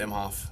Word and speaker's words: Imhof: Because most people say I'm HOF when they pronounce my last name, and it's always pronounced Im HOF. So then Colton was no different. He's like I'm HOF, and then he's like, it's almost like I'm, and then HOF, like Hall of Fame.